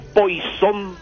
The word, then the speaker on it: Poisson: Exactamente, y aparecen talentos nuevos como Poisson, sí, o Poisson por pronunciar en español, ¿verdad?